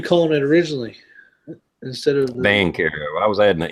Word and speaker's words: Vaquero: Like I done a video on this Vaquero, which I know I pronounced wrong in the whole video is Vaquero, but I hadn't shot it yet.